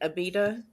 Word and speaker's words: Abita: so I got the I can't ever say it right Abita that's how you say yeah a pizza I